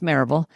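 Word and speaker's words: Maryville: I so I've been coaching I I ran I started grew and ran a group practice in Mville Tennessee which we pronounce Maraveville just outside of Knoxville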